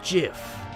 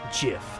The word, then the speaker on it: GIF: the truth it's pronounced jiff huh dot jiff like the peanut butter the creator said so that's dumb it's graphics